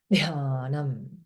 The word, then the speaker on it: Dhyanam: And DH means aspirate, big breath. Dhyanam, Gita, Dhyanam.